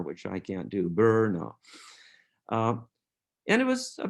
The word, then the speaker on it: Brno: time today it is the town of brno b-r-n-o and in the czech republic it's pronounced like brno but with a roald r which i can't do burno uh and it was a big city it